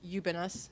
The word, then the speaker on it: Ubiñas: traduce yourself sure my name is you've been us easiest way to pronounce my name I am a writer for